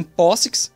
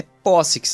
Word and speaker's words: POSIX: Linus estava interessado na especificação POSIX, inclusive a pronúncia é POSIX, não POSIX, como muitos falam.